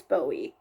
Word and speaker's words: Bowie: Brittany Bowie, and yes, that is how you say her name. I'm a speed skating fan. It's Bowie. Brittany Bowie, she gave a pep talk to Aaron.